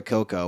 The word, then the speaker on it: Cuoco: Or whatever, Coco, whatever the fuck. How you say her name? Cuoco.